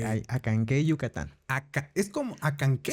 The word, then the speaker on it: Acanceh: Es como Acanqué. Se escribe Acancé, Ok. Acanceh, Ok. pero la última parte que es CEH, se pronuncia que, como Q.